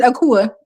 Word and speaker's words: Akua: I say, My name is Akua. It's just me born on Wednesday, It but it's sound pronounced like Akua.